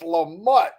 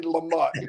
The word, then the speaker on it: Lamott: It's so funny when he said, no, you got to say it right. It's Lamott. And I went, Dang, I was trying so hard not to say Lamont.